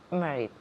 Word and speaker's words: married: Se escribe M-A-R-R-I-E-D, but M-A se pronuncia como si fuera M-E.